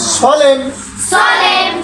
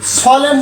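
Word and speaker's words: solemn: যথা এস ও এল ই এম এন, সলেম সলেম সলেম। আমরা সলেম বলছি, এনের উচ্চারণ নেই এখানে।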